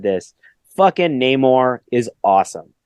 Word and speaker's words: Namor: You know, I, like most people, made a big deal about pronouncing names right for the last 2 or so years. Namor. And like when Namor fucking shows up and explains his backstory and calls himself Namor.